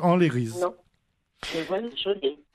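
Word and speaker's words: anleriz: A-N-L-E-R-I-Z, en créole, tous les lettres se prononcent, tous les sons se prononcent, n'y mettent pas le E, donc Enlérise.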